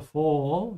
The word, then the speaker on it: Fall: Fall with an open A. It's not a fall.